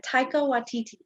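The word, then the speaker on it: Taika Waititi: i apologize uh uh taiko watiti that is perfect that is how you say it taiko with td so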